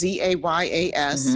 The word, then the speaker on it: Zayas: Or Zayas. I don't know how to pronounce it. It's Zayas.